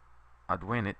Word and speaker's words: advenit: Okay, so advenit with a short e means he arrives. Advenit with a long e means he arrived.